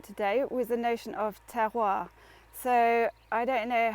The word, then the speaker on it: terroir: So if you think about tearing paper, okay, so you say tear, can hear you, it's great, can hear you going tear, and then you just go wah, okay, you're doing the